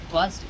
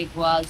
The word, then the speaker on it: Iguazú: É assim que se pronuncia? Iguazú. Isso. O que você acha que Iguazú significa em guarani — a língua indígena?